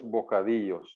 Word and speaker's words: bocadillos: Quiero dos bocadillos. The double L is always pronounced like a Y.